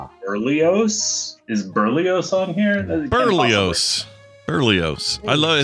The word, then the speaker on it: Berlioz: Berlioz. I love it. It's a great. It's absolutely. It's just a nutritious part of a balanced breakfast. It's pronounced Berlioz.